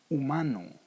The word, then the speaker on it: humano: Humano, human. Like in my name, the H doesn't make any sound. Hugo, humano. In both cases, the H is silent.